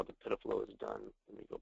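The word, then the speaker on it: PIDF-LO: mentioned earlier it's p df- l and it's pronounced pflow it's just the uh the the way that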